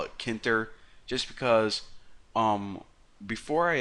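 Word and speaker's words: Tkinter: I'm gonna call it kinter I know it's pronounced TK enter but whatever I'm gonna shut up now and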